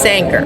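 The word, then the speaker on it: Sanquhar: I believe it's pronounced Sanker.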